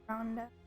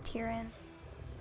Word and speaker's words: Tyrande: of your goddess's bargain tyrande nothing lasts how did i not know what was pronounced tyrande i always thought it was tyrin or something tyrande can you hear